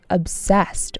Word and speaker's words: obsessed: He became obsessed with his image. Obsessed. Obsessed. Emphasis on the second syllable.